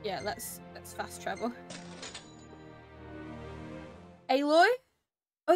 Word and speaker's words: Aloy: let's let's fast travel aloy oh is it aloy not alloy damn in in all games they just make you pronounce it the completely opposite way that you think it is like I said the